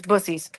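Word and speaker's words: Buc-ee's: Everyone calls it Bucky's, but it's Bussies. That's how you pronounce it.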